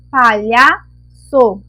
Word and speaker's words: palhaço: a próxima palavra é a cedilha na palavra palhaco a cedilha e não está no cê deixou a palavra com som o palhaço cu1 então colocando a cedilha ficou o som correto palhaço uma frase ficou o